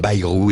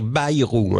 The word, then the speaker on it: Bayrou: vieille histoire tout comme baayrou est une vieille histoire ou il faut dire ba rou he un jour chez Drucker il l'a bien dit il faut prononcer BA et Drucker a dit